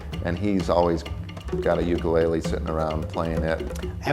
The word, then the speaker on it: ukulele: The Hawaiian correct pronunciation is ukulele. Put a little apostrophe in front of the u for that sound.